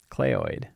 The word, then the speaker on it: cleoid: have a cleoid clay it's pronounced clay clay oid we could have them